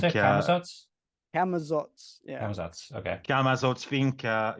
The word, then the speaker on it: Camazotz: Yeah, how do you pronounce it? Camazotz? Camazotz, yeah.